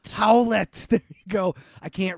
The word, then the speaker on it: Howlett: And then James Logan Howlett. How do you say that? Howlett? Howlett.